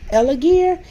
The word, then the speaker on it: Elegear: So I would like to thank, and I want it's pronounced Elegear, and like I said, this will come down, don't mind my slippers, this will come directly from Amazon.